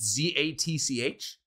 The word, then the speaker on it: Zatch: is there a t in there is it z-a-t-c-h yeah Zatch Zatch or are you just butchering